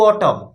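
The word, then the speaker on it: autumn: लोग का ऑड टू ऑटम ठीक है यहां पर एक वर्ड है ऑटम जिसमें एन साइलेंट होता है जिनका लेखक है जॉन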